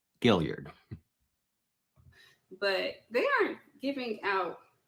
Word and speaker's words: Guillard: way through so it's apparently I've been saying her name wrong Gillard I I assumed dou L French but Gillard but they aren't giving